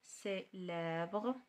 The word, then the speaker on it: célèbre: célèbre. donc سي كتقرا س. célèbre.